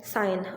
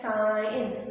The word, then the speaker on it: sign: will pronounce it as sign not the word not the sound of it is pronounced as sign and the g is silent okay we have another